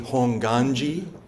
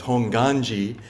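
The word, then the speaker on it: Hongwanji: Temple is called Nishi honganji not honganji the W is silent um it's honganji and that Gan means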